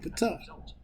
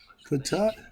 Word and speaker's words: Ptah: I want to be like Ptah. Ptah, from the Memphite in the theology concept, Ptah uttered his own name. We put the P on it, the P is silent, but is his original name.